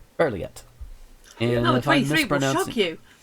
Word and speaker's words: Berliet: It's 34 bulleted items by Melanie Berliet. Yeah, something like that. Berliet. Yeah, that is an I. So Berliet.